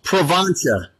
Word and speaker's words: Provencia: What's the correct way of saying it? It's Provencia. Provencia.